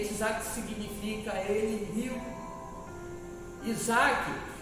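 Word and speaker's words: יצחק: é o seu filho conhecido como itac ou Isaac como nós bem pronunciamos é itac significa ele Rio Isaac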